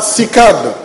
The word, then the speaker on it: CICAD: Centre international de conférence Abd qu'on prononcera cicade s'il vous plaît jamais